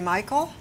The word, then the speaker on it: Mikell: is Ron I hope I'm pronouncing it correctly Michael you have pronounced it correctly I have good and up